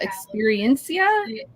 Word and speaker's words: Experiencia: It's the Experiencia.